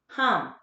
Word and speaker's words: Ham: guys simple is hum it's spelled ham h.a.m but it's hum so you will um